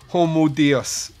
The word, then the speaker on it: Homo Deus: man God oh and it is pronounced homo dios yes right okay yes